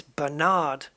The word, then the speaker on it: Bernard: first syllable bernard but in america it's bernard where the it's it's on the second syllable but bernard in the